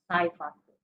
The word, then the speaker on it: Sci Factor: That's the way to pronounce the name, Sci Factor.